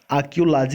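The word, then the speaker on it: archaeology: आर्कियोलॉजी, ठीक है, are silent होगा। आर्कियोलॉजी इसको पढ़ेंगे।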